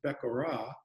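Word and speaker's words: בְּכוֹרָה: So the word firstborn is pronounced Bekorah, and the word for blessing is pronounced Barakah.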